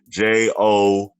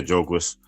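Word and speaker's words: Jogues: I forgot how you would say that in French. She's speaking too many languages. Jougues. It's French. I forgot that's pronounced. Jougues. Yeah, Jougues.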